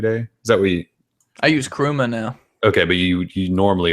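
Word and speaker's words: Chrooma: week or so it's called crew ma keyboard and it's spelled CH roo and a and we looked at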